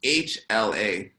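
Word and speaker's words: ལྷ: So it's written LHA. Okay? But instead of LHA, it's supposed to be pronounced HLA.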